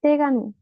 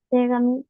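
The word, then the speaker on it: 手紙: le quiera dar entonces si nosotros juntamos t mano y kami papel la pronunciación de kami pasa a ser Gami t Gami car ustedes me avisan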